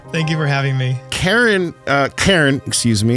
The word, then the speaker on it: Cairn: Cairn, one syllable, yes. Yes, let's not confuse people with manager calling. Yes, this is the C-A-I-R-N in case you're driving and wondering what we're talking about.